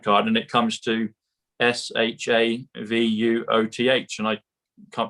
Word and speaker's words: Shavuot: It comes to sovereign, comes to trump card, and it comes to SHAVUOTH. And I can't pronounce it properly yet, but it comes to the book that Roseanne shared with us at the beginning.